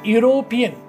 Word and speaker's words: European: For example, I am an European. So European first letter is E. So generally students are doing mistakes to use N, but it's pronounced as Y sound.